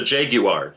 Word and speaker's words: Jaguar: Although British people say, so I say Jaguar, but for British people, it's the Jaguar. You have to really pronounce the U.